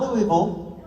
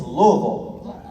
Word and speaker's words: Louisville: you say it right it's not louisville it's louisville in the same way i'm from nashville okay but my question